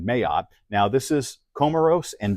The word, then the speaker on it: Mayotte: I'm sure the French pronounce it a little differently, but this was the pronunciation that I got online, Mayotte.